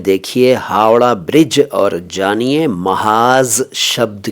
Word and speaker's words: महाज़: बस यह है कि उच्चारण का ख़ास ख्याल रखिएगा। महाज जैसा कि मैंने पहले कहा, मत कहिएगा महाज है ये, महाज। कुछ लोग इसको मुहाज भी कह देते हैं, लेकिन ये महाज है।